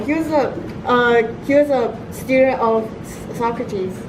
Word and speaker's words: Socrates: Actually, just kidding, it's Socrates. Don't pronounce it wrong.